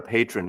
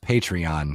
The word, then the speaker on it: Patreon: lure these people yeah it's pronounced it's pronounced patreon Mazy come on no that's or Patron and it can be it can be the tequila right that's that's Patron so